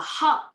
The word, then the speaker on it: hurt: Thì khi mà đọc hút một cái là âm u là u, hút một cái là nó ra một cái móc, còn đọc là hurt là âm ơ là nó ra là cái từ ôm trong tiếng Anh, là nó sai phát âm.